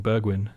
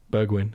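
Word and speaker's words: Bergwijn: yeah actually Berg when so you pronounce the J like a G like a why yeah what it was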